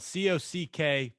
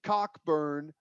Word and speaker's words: Cockburn: The C and K are silent.